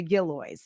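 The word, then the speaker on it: Gillioz: how you say it that is how you pronounce the gillo uh the office will support film and television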